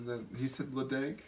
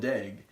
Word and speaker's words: Ledaig: So even as Americans, we may feel stupid for calling it Ledaig, but even Scottish people call it Ledaig. But the distillery is either Ledaig or Ledaig, whatever you prefer.